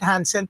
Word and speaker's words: Janson: Either way is correct. Janson. O kaya pala kahit Hansen pwede.